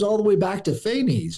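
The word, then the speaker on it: Phanes: the way back to phy or Fess as it's pronounced so you've got this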